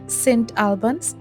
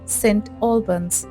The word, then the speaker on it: St Albans: এখন নামকরণ করা হয়েছে সেন্ট আলবানস বা এখানকার প্রোনাউন্সিয়েশন অনুযায়ী সেন্ট অলবানস এই শহরে রোমান ব্রিটেনের